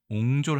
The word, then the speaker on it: 壅拙: 시간이 단어에 대해서 알아보겠습니다이 단어는 우리가 옹졸이라고 읽습니다 옹졸 하다에 어근이라고 되어 있네요